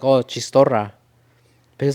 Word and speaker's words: chistorra: Chistarro, because you don't pronounce this. Chistarro. It was Chistorra. It was chistorra. No, but it's chitorra. No, we don't pronounce the S at the end.